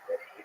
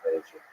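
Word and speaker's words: Medellín: How do you pronounce Medellin or Medellin? Both are fine. I think they that's kind of the accent.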